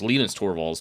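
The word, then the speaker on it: Linus Torvalds: balls or lean i i think it's actually pronounced lena's torvals because he's a norwegian right or not norwegian uh finish yeah but ah anyhow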